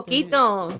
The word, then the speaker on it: poquito: So my So father, yeah, porquete, is that how you say it? Porquete? A poquito. poquito.